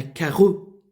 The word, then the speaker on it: carreaux: Il crachait dans un grand mouchoir à carreaux.